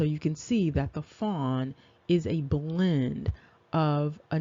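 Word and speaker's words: faun: is this fawn and the fawn is f-a-u-n but phonetically it is f-o-n and so on the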